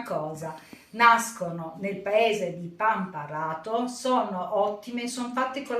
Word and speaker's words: Pamparato: Scusate ogni tanto qualche piccolo difetto nella pronuncia. Oggi vi voglio parlare dei biscotti di meliga pamparrato, ma nel video sentirete più volte pamparrato perché io aggiungo e tolgo.